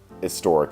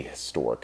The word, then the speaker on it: historic: So in British, you would say an historic event, or he has a huge head, right? Well, that's debatable. But in America, we pronounce that H, and so it is a historic event, okay?